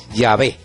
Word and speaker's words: Yahvé: pueden consultar también y los expertos dicen que la pronunciación más correcta es llave llave entre otras cosas porque